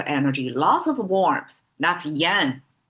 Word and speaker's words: 阳: That's yan. Yang. Okay, let me just pronounce it Chinese way.